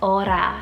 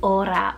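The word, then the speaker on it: Ora: beautiful o name here next it's the name aura spell o-r-a aura or aura and this one means to pray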